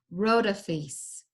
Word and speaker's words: Rhodopis: from Egypt okay so notice the way to pronounce her name is rota fiefs and she is the Egyptian Cinderella this is